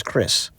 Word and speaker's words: kris: They use caris and then only mentioned on the side pronounced and sometimes spelled as Chris.